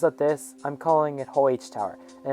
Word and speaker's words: Huje: And by the way, yes, I know some people pronounce it Huge Tower, but basically it's spelled with a J instead of a G. So because of this, I'm calling it Huje Tower.